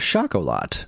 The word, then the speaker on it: Schocholautte: far as I'm concerned that's the story of shakol lot uh which was uh it was uh it's spelled s c h c h l u